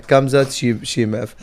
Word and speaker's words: Khamzat Chimaev: But yeah, Khamzat Chimaev.